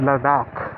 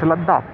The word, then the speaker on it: Ladakh: has to go to Ladakh Ladakh sorry I used to pronounce it laughs I don't know why or reason but it's a lot doc all right so so